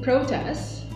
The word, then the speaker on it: protest: words are tricky because even though they're spelled the same but they are stressed differently the form changes okay the first word is this one so when you pronounce it protests it is a noun